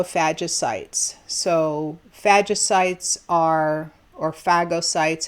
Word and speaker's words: phagocytes: so phagocytes are or phagocytes however you pronounce it I say it Faja because that means to eat in Greek so phagocytes surround